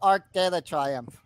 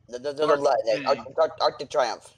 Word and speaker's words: Arc de Triomphe: Is it pronounced Arc de Triomphe or Arc de la Triomphe? Arc de Triomphe. Okay. Yeah, no lay.